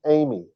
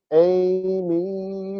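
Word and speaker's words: εἰμί: they do that uh our next word is Amy Amy what you wanna do I'm in rare form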